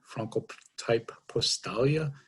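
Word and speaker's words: Francotyp-Postalia: europe uh germany is where we were founded franco type postalia is the actual pronunciation of the company in the united states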